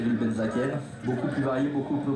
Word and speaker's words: Benzaquen: noir du club de boisar exactement à Cyr benzakenen comment vous le prononcez Benzaken Benzaken qui nous vient de Châtillon